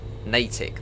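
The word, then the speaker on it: Natick: no one's corrected me yet on saying Wellsley natic that was yeah I was saying that wrong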